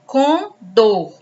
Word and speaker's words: condor: Condor, dó. Do é a sílaba tônica, é a última.